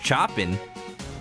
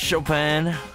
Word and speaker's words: Chopin: time and he's like oh man i love chopping and his sister's like it's pronounced chopin chopping that's one of the things from the